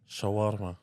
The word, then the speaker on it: Shawarma: and and whatnot definitely CH yeah did I pronounce it right uh Shawarma Shawarma yeah so that is um a traditional Middle